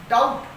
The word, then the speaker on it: doubt: For example आपने देखा होगा डाउट DOUBT और आपको लगता है इसमें बी क्या होता है साइलेंट होता है, जबकि यकीन मानिए डाउट की स्पेलिंग में बी था ही नहीं।